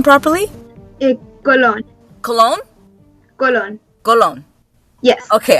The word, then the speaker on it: Colón: Colón.